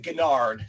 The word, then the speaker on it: Gennard: and my last name I generally pronounce it gennard it's not hard to say gennard but um any variation